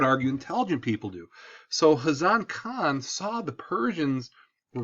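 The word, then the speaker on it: Ghazan: next person is a hazan the g is silent so during his reign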